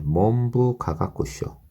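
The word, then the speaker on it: 文部科学省: 네, 이 때문에 몬부 가가쿠쇼와 네, 몬부 가가쿠쇼. 몬부 가가쿠쇼. 몬부 가가쇼. 네, 여기서 문이 보통은 분으로 발음이 되거든요. 근데 여기서는 몬으로 됐어요.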